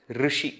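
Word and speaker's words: ऋषि: technically it is not it is somewhere in between not re not R it is Rishi Rishi Rishi see my mouth also is different I am not saying Rashi Rishi or rushi I am saying Rishi Rishi Krishna Krishna okay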